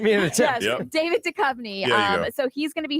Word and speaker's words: Duchovny: Duchovny? Duchovny, yeah. I don't know who you're going. Where you're going? We're waiting for a bunch of Davids. Give me an attempt. Yes, David Duchovny.